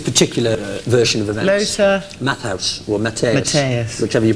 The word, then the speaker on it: Matthäus: Lothar Matthaus, or Matthäus. Matthäus. Whichever you prefer. Matthäus. Because that's the correct pronunciation.